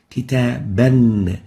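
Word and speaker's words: كتابًا: Fatha, duplicate Dhamma, duplicate Kasra, and it is pronounced like this: Kitaban, kitabun, kitabin.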